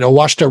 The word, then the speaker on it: Ouachita: uh filsonthal Refuge the what how do you pronounce it which uh oh awashta that's right awashta River Arkansas so this was like right on